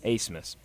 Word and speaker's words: Abmas: Asmus. But it's spelled like ABSMAS. Yeah, something spelled different. But the B's like kind of silent. It's Max my Asmus.